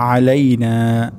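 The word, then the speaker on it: علينا: আসসালামু আলাইনা, আসসালামু আলাইনা। এখানে গুরুত্বপূর্ণ আইন উচ্চারণ করা।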